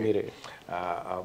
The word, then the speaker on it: Mirae: Not many people still can pronounce the word MIRAE. MIRAE.